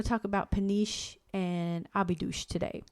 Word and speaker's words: Óbidos: Well, we believe it's Óbidos. Yeah, O's at the end are pronounced in a ooh kind of way. And an S is a sh.